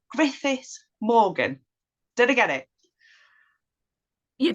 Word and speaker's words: Griffith Morgan: sorry if I if I get your your surname wrong Griffith Morgan did I get it you did but if